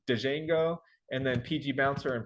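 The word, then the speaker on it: Django: me uh this one everybody pronounces the D out front so it's dejango and then PG Bouncer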